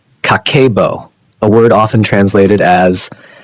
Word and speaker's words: Kakeibo: Pronounced pronounced Kakeibo, a word often translated as household financial ledger.